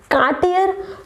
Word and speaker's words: Cartier: Cartier? No, guys, it's not Cartier. I know Cartier. It's look like Cartier, but it's Cartier. Repeat after me, Cartier.